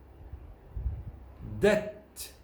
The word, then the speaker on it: debt: Notice the V is silent. It's not pronounced in this column and the next column. Climb, comb, thumb. Debt, doubt, subtle.